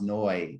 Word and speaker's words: Neu: identity so like because my last name is new but it's pronounced noi in germany and so being german